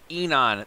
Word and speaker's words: Aenon: so today we're doing enon i think it's how you pronounce it somebody told me that when you have the a and the e combined just called e enon the comforter they've been